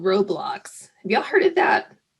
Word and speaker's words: Roblox: Because I would call it what did I say? Roadblocks. She's like, Mom, you got to say it correctly. You sound so old. So it's Roblox, just for anyone else out there.